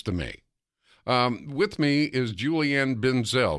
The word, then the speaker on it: Julianne Benzel: me with me is Julie Ann Ben Zell am i pronouncing your name ma'am yes sir you are okay nice to talk